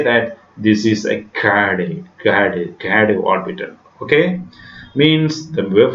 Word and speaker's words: gerade: Actually, it is a German word. R is silent here, so we have to read it like gerade, gerade.